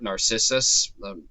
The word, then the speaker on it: Narcissus: And so Echo is attracted to a man named Narcissus or Narcissus, depending if you want to use the Latin pronunciation there or not.